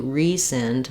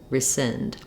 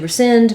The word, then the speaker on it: rescind: And then the C is silent in rescind, so we just have the S sound for letters SC.